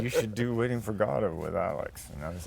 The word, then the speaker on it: Godot: Waiting for Godot, yes, that's how it's pronounced, mixes high despair and low comedy to raise big questions about, well, the meaning of life.